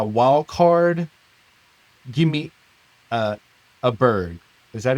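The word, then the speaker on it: Åberg: then as my wild card, give me uh, a bird. Is that how you say it? A bird? Oh, Ludwig a bird? Is that how you Ludwig say it? Aberg, whatever.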